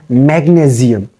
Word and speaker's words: magnesium: You don't have to pronounce, you don't have to make the sound of SI like sh, sh. Here you have to pronounce it magnesium. Magnesium. Change the sound of S with Z.